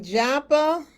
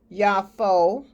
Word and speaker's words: Yaffo: And he went down to, it looks like Joppa, but it's correctly pronounced Yaffo, and that means beautiful.